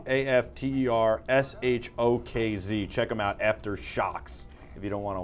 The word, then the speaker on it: AfterShokz: These are the Aftershocks, by the way, just so I pronounce it correctly. AFTERSHOKZ. Check them out, Aftershocks.